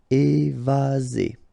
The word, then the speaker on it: évasé: Remember, one S between two vowels. Z. Évasé.